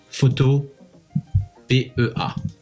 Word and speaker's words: Photopea: Alors pour cette deuxième étape, tu vas te rendre sur Photo PEA. Photopea, je sais que ça se prononce comme ça, mais c'est bizarre.